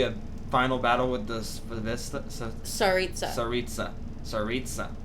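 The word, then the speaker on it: Tsaritsa: Maybe a final battle with the Saritsa. Saritsa. You kind of have to pronounce the T into an Saritsa. S. Saritsa. It's Saritsa.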